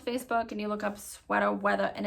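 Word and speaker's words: Sweata Weatha: and you look up Sweater Weather and it's I say it like that because it is s-w-e-a-t-a w-e-a-t-h-a Sweater Weather and if you look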